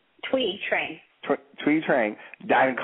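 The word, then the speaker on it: Thuy Trang: Tui Trang.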